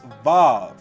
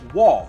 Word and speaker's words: waw: his Hebrew grammar that the sixth letter of the Aleph Beit is indeed pronounced WaW.